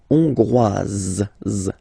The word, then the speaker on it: hongroise: Hongrois, Grois, Hongroise. Okay, so here, final S not pronounced for the masculine form, and then you pronounce it here for the feminine form.